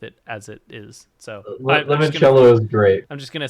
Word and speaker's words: limoncello: Lemoncello. Looks like a It's limoncello.